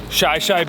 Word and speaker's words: Shi Shi: About 3 miles in here, we just passed Chillean Beach.